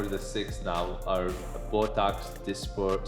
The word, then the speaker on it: Dysport: Um again the five or the six now are Botox dysport sometimes pronounced dasport uh zumen uh juvo daxifi and lativo.